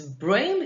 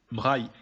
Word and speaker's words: Braille: Louis Braille was a Frenchman, so in the French language, his second name is pronounced Braille. And in the English language, his second name is pronounced Braille.